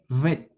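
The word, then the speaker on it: ב: Cuando no tiene el punto en su interior debe escribirse de esta manera. Su forma de escritura es así y su pronunciación debe ser labiodental. Ved v y su equivalencia es una V.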